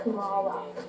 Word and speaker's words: Kamala: My name's pronounced Kamala.